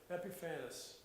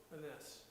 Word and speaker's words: Epiphanes: Epiphanes, or Epiphanes. It's spelled like Epiphany, only instead of a Y, there's an ES at the end of it.